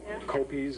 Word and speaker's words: Koppeis: C uh C copas copies is the easiest way to remember how to pronounce the inkeeper name me is to think of apple pies blueberry pies apple pies